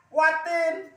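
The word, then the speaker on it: وَالتِّينِ: Jadi ini alif lam. Ini enggak ada tanda bacanya, maka kita bukan dipanjangkan, kita lalui. Jadi bacanya apa? Menjadi watin. Karena tidak ada tanda bacanya.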